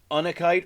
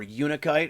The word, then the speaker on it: Unakite: This is Unakite or Unakite. I've heard it pronounced both ways.